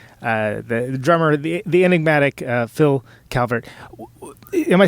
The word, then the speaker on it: Calvert: The Birthday Party, the drummer, the enigmatic Phill Calvert.